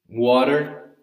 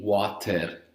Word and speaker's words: water: It's a mixture between letter R and letter D. Okay, so watermelon. Okay, this is the same example, the same situation for water. Water, the common one, is we don't say water, we say water.